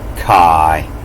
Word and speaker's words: chi: And if you look close at this letter chi, they'll pronounce it kai. I'm going to stick with chi.